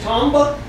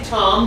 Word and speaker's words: tomb: right should that be Tom but no but yeah it's pronounced tuned that's how it's pronounced it's not pronounced Tom but it's pronounced tomb because the B is silent and the O goes ooh so see you don't